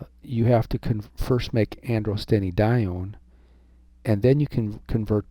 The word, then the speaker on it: androstenedione: And it can also be converted lickety split into androstenedione. Androstenedione is how I always learned it. It's also pronounced androstenedione.